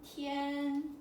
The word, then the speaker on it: 天: So the first character here is, pronunciation is like this. T, yan, tian. Tian. Tian. 1, 2, 3, 4.